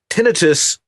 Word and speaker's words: tinnitus: Devox writes, what if you only have tinnitus?